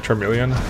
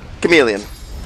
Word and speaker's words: chameleon: Am I saying it right? Charmeleon Cloak? Chameleon. Yeah, exactly. That one. Like the little lizard.